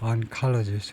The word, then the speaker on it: oncologist: 예 uncist uncologist 두 번째 음절에 colist 그다음에 영한 사전에서 unclegist는 는 예 종량학자 암연구자 그래서 종량학자 이렇게 하면 되겠네요.